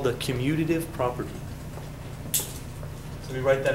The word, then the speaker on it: commutative: a c property close you're emphasizing the wrong syllable but the wrong syllable but it's close yeah it's it's the commutative property like you commute down